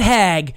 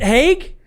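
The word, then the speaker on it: Haag: have you know me you still mispronounced my last name that's crazy what is it Hague yeah you said hag that's flopped dude my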